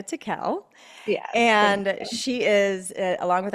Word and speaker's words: Tickell: I I was like Tiel TI Tiel and then I say it wrong tickle but yes Rebecca Teel and she is along